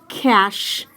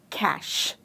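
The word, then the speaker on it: cache: It is pronounced as cash. So, the sound that C makes here is the K sound. So, you pronounce it as cash, just as cash, money.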